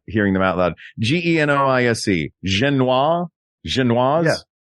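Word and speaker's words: génoise: Genoise? Genoise? Yeah. How do you say that? S-E? S-E. Genoise. Yeah. Yes. There's an E after the S, you pronounce the S.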